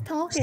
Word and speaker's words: Tolkien: it's that's not how you say it it's talking and i'm like maybe maybe i'm wrong who